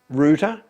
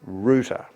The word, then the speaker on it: router: well it's look again look at the way it's spelt the correct pronunciation of that is rooter and again this is